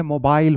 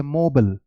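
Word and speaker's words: mobile: ये जो वर्ड है बच्चे, इसकी प्रोनाउंसिएशन ब्रिटिश इंग्लिश में मोबाइल होती है, जबकि अमेरिकन इंग्लिश में इसकी प्रोनाउंसिएशन होती है मोबल, मोबल, मोबल, ओके।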